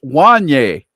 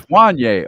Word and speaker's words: Wanye: It's pronounced like the rapper Kanye. It's Wanye. Is that? There you go. There you go. Mm-hmm. It's Wanye.